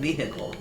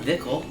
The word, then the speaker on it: vehicle: What's wrong with vehicle? You don't pronounce the H. You don't pronounce the H? It's got an H in it, though. It's not Vickle.